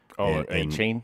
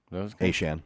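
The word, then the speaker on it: Achane: He said A-Chain. It's A-Shan.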